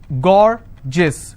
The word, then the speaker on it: gorgeous: as well for example i have a word gorgeous so gore gis two-syllable i will stress on gore s-i-o-n tension pension so